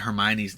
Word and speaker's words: Hermione: Like I'm gonna tell you, like I butchered Hermione's name.